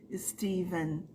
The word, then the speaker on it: Stephen: céu porque cargas d'água esse PH neste nome próprio é pronunciado porque teacher eu não sei Steven Steven King aí prestem atenção nos